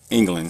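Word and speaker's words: Englen: And now we have, if there was a D on the end of your name, I would pronounce it England.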